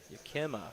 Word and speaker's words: Yakima: Yakima, that's how you pronounce it.